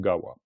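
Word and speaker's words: དགའ་བ: Le pas s'il est la dernière syllabe d'un mot, il se prononce wa donc gawa.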